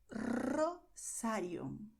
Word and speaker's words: Rosario: So you have Rosario, Romero, Rio Negro. You see what happened here? At the beginning, R, and inside of the word r.